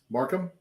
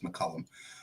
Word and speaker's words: Markham: How do you say his last name? Markham. Nate Markham from. I don't know why I was thinking it was McCullum.